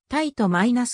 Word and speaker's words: TAOC: に多く用いられるたいとはたいとと読むがたいとの